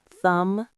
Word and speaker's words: thumb: Lamb, climb, thumb. All have silent Bs at the end.